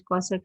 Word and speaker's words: cosec: cosecant x that is cos x you simply pronounce it as cosec x so f x plus h replace x